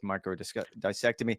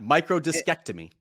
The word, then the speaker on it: microdiscectomy: You and I actually debated about the proper way of pronouncing that. I think you might have gotten it, but I'm going to go with microdissectomy. When he had Nope, that first one, absolutely not. Microdiscectomy.